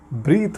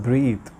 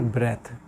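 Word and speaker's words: breath: गया इसको हम बोलेंगे ब्रेथ। इसके प्रोनाउंसिएशन में बहुत बड़ा डिफरेंस है। मोस्टली लोग इसको भी ब्रीथ ही बोलते हैं, जो कि गलत है। इसको ब्रेथ बोला जाता है।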